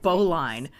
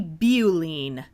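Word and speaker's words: Beau-line: thought it was called Boline but it's actually beine I mean okay it's the first syllable of beauty but that word also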